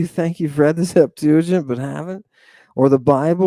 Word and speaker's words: Septuagint: That's why you'd think they'd learn how to pronounce it properly, right? Septuagint.